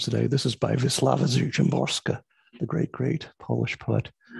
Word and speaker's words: Szymborska: This is by Wisława Szymborska, the great, great Polish poet.